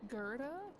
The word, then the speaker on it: Gerda: the Gerda Grant hotel Gerda that's how you say it yep you've probably seen